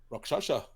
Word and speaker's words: Rakshasa: Guys, So, I had a buddy who's was Indian, Oh, and his dad said it's pronounced Rakshasa.